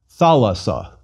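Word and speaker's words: θάλασσα: Let's try reading it. Thalassa. Again, tha-las-sa. And one more time, thalassa.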